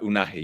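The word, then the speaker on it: Unai: introduction of um I'm going to say his name wrong. I hope I said that right. Unahi.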